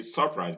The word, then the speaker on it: surprise: In lecture, in treasure, in choral, in surprise, the UR in surprise is not stressed. So we don't say surprise, but we say surprise because the first syllable is weak and the schwa occurs there.